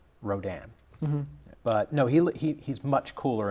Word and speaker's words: Rodan: Well, the original Japanese way to pronounce it is Radon. Really? Yeah, or Radan. Really? But for whatever reason, I guess maybe to differentiate this kaiju from a poisonous gas, the American dubs are Rodan.